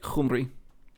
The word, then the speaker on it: Cymru: I don't know why it's like that, but yeah, it's pronounced like a C, but it really is that like phlegmy H sound instead. So it's like Cumri. It's like you're rolling the first letter, which is fun.